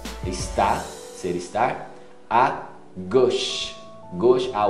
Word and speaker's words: gauche: A gush. Gush, a U com O. É um som de O quase. Gush. Não é goshi.